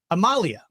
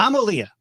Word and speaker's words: Amalia: So it's the phonetically it looks like it would be Amalia. Yeah. But it's Amalia, right?